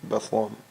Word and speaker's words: Bethlehem: Bethlehem, Pennsylvania. Bethlehem. Oh, I guess you get rid of the H and just go Lum. Bethlehem, Pennsylvania. I guess I do kind of say it like that.